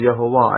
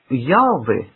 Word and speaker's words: Yahweh: Moses did not sit there pronouncing the name of God as Yehovah. I can guarantee you that. And I can tell you that here I have to give credit to the Christians, because the Christians did write about the name's pronunciation in the ancient times, post-destruction of the temple, and they did point out in some of their writings, or the historical writings, that the name was pronounced Yahweh.